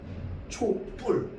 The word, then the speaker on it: 촛불: 그래서 초와 불이 만났는데 뿔로 발음되잖아.